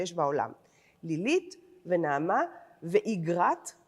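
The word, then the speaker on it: אגרת: "Lilith, and Naamah, and Igrat," I believe that is the pronunciation, rather than "Agrat", the common pronunciation, "Igrat and Machalat.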